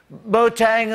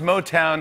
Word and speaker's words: Motown: Later on, Trump said, Motang, of course, began in the great city of Detroit. Right after that, Yosemite National Park was like, damn, you too? Yeah, Trump mispronounced Motown as Motang.